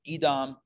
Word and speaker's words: Edom: the fields of edom i'm going to call it edom i know in english maybe you pronounce it edom but in hebrew it's edom so yaakov sense angels